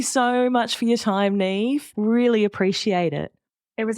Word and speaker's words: Niamh: Yeah, it's my initials because my name is spelled Niamh, and that would just be terrible for business because it's pronounced Neve.